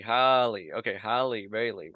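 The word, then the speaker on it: Halle: I do know that Haley uh Haley Bailey oh my goodness oh my goodness is that how you say it I think it's h h Holly okay Holly Bailey right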